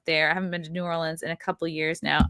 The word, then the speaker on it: New Orleans: comedy house out in new orleans new orleans i was told is the way to pronounce it so that will be